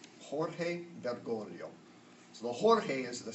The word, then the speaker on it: Jorge Bergoglio: thanks be to God for that can you pronounce his name once that we get it this gives original original Jorge bergoglio Jorge bergoglio so the Jorge is the Spanish the portfolios